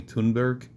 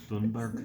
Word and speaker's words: Thunberg: There were days where Tate's name spiked, such as when Greta Thunberg, I'm never going to say her name, right? I think it's actually Tunberg. Tunberg.